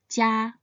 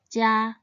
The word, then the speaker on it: 家: Its pinyin is spelled ji, ya, jia, and it should be pronounced in the first tone, jia, jia.